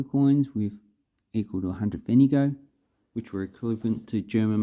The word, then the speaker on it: Pfennige: So we have the marker coins with equal to 100 Pfennige, which were equivalent to German marks at the time.